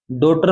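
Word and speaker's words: daughter: ए साइ क्या silent डॉटर में क्या साइलेंट है जी एच पुत्री होता है ना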